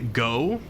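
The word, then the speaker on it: Gough: of someone and important it was probably go or Goff depending on how you decide to pronounce it but I think he calls himself go uh who was a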